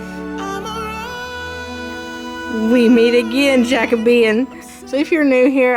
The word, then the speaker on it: Jacobean: I used to call it Jacobean, and I was informed it was different, so I called it Jacobian, but I was still pronouncing it wrong. Found out it's Jacobean, I think.